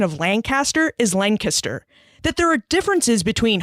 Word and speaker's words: Lancaster: a lot about Pennsylvania culture like the proper pronunciation of Lancaster is Lancaster that there are differences between hoagies and heroes